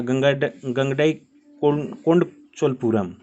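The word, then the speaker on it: கங்கைகொண்ட சோழபுரம்: थोड़ा सा इसका प्रोनाउंसिएशन साउथ इंडिया के हिसाब से है तो थोड़ा सा टेढ़ा लगता है, लेकिन इसकी प्रोनाउंसिएशन वही होता है, ये गंगडई कोंड चोलपुरम।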